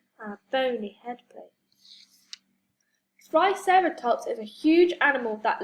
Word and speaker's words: Triceratops: Triceratops.